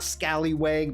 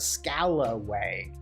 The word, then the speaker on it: scalawag: Not Scallywag, but Scalawag.